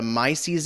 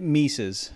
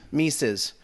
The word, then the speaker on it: Mises: in economics and he's a fellow at the mices institute and he's a host of the bob